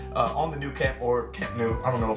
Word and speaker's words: Camp Nou: Incorrectly pronounced in English as the Nou Camp. Okay, they call it the Nou Camp.